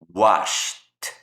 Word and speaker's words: washed: Al agregarle el ed, ese ed va a ser pronunciado así como una T. Washed, washed, missed, missed, watched, watched.